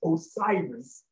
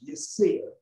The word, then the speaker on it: Osiris: do nature he said your name is not pronounced osiris he said that is the greek pronunciation he said your name should be pronounced yes sir and so i call